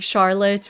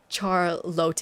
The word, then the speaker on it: Charlotte: And they were pronouncing like really simple names really incorrectly like like Evan would have been thank you Ivonne. I guess that's not the worst. or um like Charlotte was thank you charote and I feel